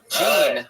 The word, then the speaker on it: Jeanne: It's spelled like Jeanne, Jeanne, L. all one word. Gene with a silent N and E after it.